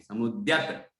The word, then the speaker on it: समुद्यत: तो बुद्ध्या विनापि विबुधार्चित पाद पीठ स्तोतुम समुद्यत, समुद्यत नहीं है, समुद्यत, द्यत आधा दा और या है, द्यत समुद्यत।